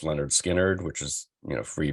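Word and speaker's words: Lynyrd Skynyrd: by the Allman Brothers Leonard Skynyrd's pronounced Leonard Skynyrd which is you know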